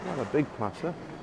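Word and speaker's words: Plaça: Here they call it Placa Mayor, but I think they pronounce the C cedilla as an S, so it's probably Plaza.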